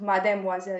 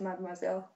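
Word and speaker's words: mademoiselle: I'm uh mad moiselle it's not called mad moiselle it's mm moiselle because I I met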